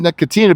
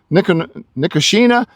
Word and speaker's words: Nicotiana: I always said Nicotina because it was the tobacco plant, but I think I'm saying it correctly now. Nicotiana.